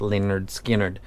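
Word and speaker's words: Lynyrd Skynyrd: mest custom represented by leonard skinner pronounced leonard skinnered they named this after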